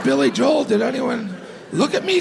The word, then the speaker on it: Billy Joel: I'm like, did anyone else say Billy Joel? When I said Billy Joel, did anyone look at me strange? And then I remembered, you know who pronounces it Billy Joel? Billy Joel.